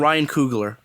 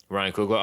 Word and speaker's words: Coogler: like how do you say his last name ryan coogler ryan coogler okay i thought i heard it pronounced in like you know some other way